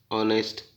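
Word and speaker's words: honest: ऑनेस्ट एच का उच्चारण नहीं हो रहा, डॉटर जी का नहीं हो रहा, साइंस, ब्रिज, डिसिप्लिन, डिसीजन और साइकोलॉजी, इनमें इनके अंडरलाइन कर दिए।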